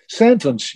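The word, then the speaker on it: Sentance: Sentence, yeah, just as in Sentence, but only with an A instead of an E, Sentence, yeah.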